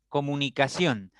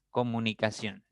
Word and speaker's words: comunicación: Comunicación tiene 5 sílabas. Si yo cuento de derecha a izquierda, sion va a ser la primera sílaba, ka va a ser